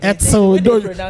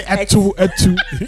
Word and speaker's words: etso: etso. Don't say etu. It's etso.